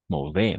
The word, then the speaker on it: mauvais: Encore une fois, A-U-O, A-I-E. D'accord, A-I-E.